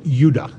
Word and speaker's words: Judah: were called Benjamin and Judah more properly pronounced Yuda because we didn't get the harder sound to the J until about 200 years ago so this is what